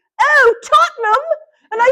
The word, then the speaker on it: Tottenham: And she says, oh, Tottenham.